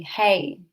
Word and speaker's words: Hei: So the first sound is going to be hey, spelt H-E-I, but pronounced H-A-Y.